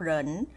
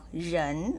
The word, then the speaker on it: 人: นิด นึง นะ คะ ตัว R นี้ นะ คะ ไม่ ออก เสียง รอ เรือ นะ คะ ไม่ ออก เหริน แต่ ออก เหยิน ออก เสียง เยอะ นะ